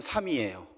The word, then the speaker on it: 삼희: 그냥 발음하면 삼이에요.